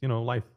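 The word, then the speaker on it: Leif: Yeah, it's life. Like L-E-I-F, life.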